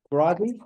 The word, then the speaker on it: Grazi: But so it's my pleasure now to introduce Jeanne Boyarsky and Victor Grazi or Grazi. Grazi, okay, great.